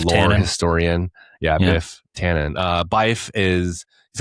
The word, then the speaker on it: Byf: You go to Byf, B Y F, is that how you say his name?